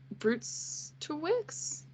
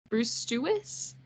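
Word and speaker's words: Brzustewicz: Vancouver Canucks in exchange for Andrei Kuzmenko, Hunter Brustewicz. I think that's how you pronounce it. There's two Z's in that name. Brustewicz, Joni Germo, and a 2024 first-round pick and a conditional 2024 fourth-round pick.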